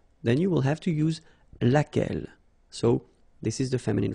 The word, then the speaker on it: laquelle: So basically same rule, Q-U, U is not pronounced here. And then you get this E-double-L-E, well, phonetically here, it is the same as what we have here. So, laquelle.